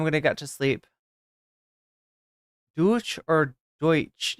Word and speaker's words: Deutsch: to get to sleep douch or Deutch yeah Deutsch is like the ger is actual in German it's like deuts but like I somebody